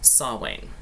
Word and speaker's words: Samhain: wheel of the year saw wayne it's actually spelled samhain but that's not how it's said this is what we